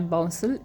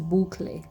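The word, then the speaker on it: bouclé: इट इज़ नॉट बाउंसल, इट इज़ बूखले। Very posh, बूखले। तो ये Dutch origin word है, इसीलिए इतना डिफरेंट साउंडिंग है।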